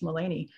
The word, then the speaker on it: Melanie: haffed it up and spelled it like melanie but it's uh pronounced mullany and we're here in